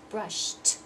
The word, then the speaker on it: brushed: tub jump and then you have brushed that sound there's no vibration in your vocal cords so we're gonna have brushed brushed and then dress of